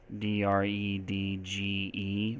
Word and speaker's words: dredge: D-R-E-D-G-E, right? But this one it has an E at the end, but we definitely do say the G, dredge, right?